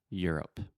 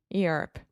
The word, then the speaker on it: Europe: word Europe yeah so just think about your up Ear up Europe Europe yeah a lot of